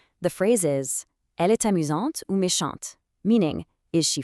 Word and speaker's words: amusante: The phrase is Elle est amusante ou méchante, meaning is she funny or mean? Based on the sound and spelling of these adjectives, both amusante and méchante ending with that sharp, activated T, it confirms immediately that the subject is female.